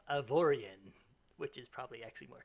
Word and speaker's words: Avorion: everyone oh I have been towed it's actually pronounced of Orion which is probably actually more correct but I'm